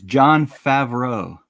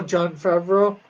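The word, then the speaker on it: Jon Favreau: I said it's John Favreau. Oh, John Favreau. Yep, that's how you pronounce it.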